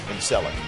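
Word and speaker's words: Celek: It's a soft C in Selleck.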